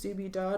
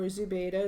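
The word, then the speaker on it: Zubeidat: You heard the name pronounced a couple of times, Zubidat or Zubaydah, Dzhokhar's mom, and you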